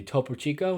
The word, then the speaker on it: Topo Chico: you showed me a couple months ago the topo Chico is how you say it just regular carbonated